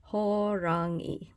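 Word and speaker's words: 호랑이: this is the romanization so this actually kind of helps you pronounce the actual um Korean letters that you see up here so it's horangi so anyway so that's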